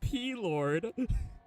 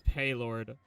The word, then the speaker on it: Paylord: Is it pronounced P-Lord? I'm sorry if it's not. Is there a different way to pronounce your name, or are you P-Lord? If so, that's a fire name. But yeah, we need 2 more folks. Please at least be professional. P-Lord, Ward of the P. It's Paylord. Okay. Nice to know, Paylord. I thought it was something different.